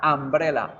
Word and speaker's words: umbrella: Se escribe con U, se lee con A. Umbrella, umbrella, umbrella.